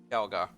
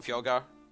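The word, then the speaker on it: Fjallgar: Fjalgar. Fjalgar. How do you spell that?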